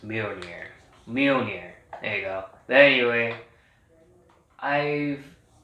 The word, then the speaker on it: Mjolnir: read it i didn't pronounce it i couldn't pronounce it so but uh now i got it it's mirroring here mjolnir there you go anyway i've it's a good